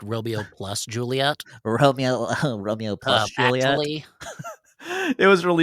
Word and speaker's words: Romeo + Juliet: believe it's pronounced Romeo plus Juliet.